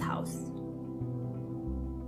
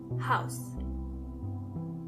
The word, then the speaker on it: Haus: The house in German means das Haus. Das Haus. When it comes to pronunciation, it's the same as in English, but you have to keep in mind how the word house is written. H-A-U-S.